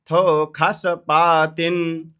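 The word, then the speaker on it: तस्थुषस्पतिम्: जा गा तस तस थो खस पातिन थो खस इसमें ये जो स है इसको ख पढ़ते हैं वेद में ठीक है थो खस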